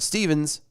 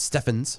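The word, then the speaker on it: Stephens: kicking and screaming when Brett Stevens, That's Steffens. Let me Steffens. say it right. Steffens.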